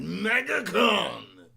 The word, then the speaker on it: MegaCon: You got to say it like Megatron. MegaCon!